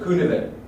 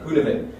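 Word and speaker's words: Cynefin: pronounce this correctly uh it's a Welsh word from from the Welsh uh author or thinker behind this Theory called kunan and it's actually spelled c y n e f i n kunan um and it's a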